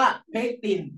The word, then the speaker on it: เพกติน: เพกติน ออก เสียง ไป ออก เสียง ว่า เพกติน ไม่ ใช่ ู ไม่ ใช่ เคิ นะ เพคติน ลูก เดี๋ยว